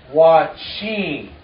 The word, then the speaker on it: wachin: Anyway, in Dakota, they have a nasal, and so there's a nasal sound. Everybody say, "Wachin."